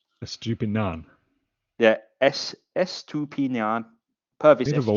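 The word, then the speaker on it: Pervis Estupiñán: Estupinan. Estupinan. Yeah, Estupinan. Purvis Estupinan. Estupinan.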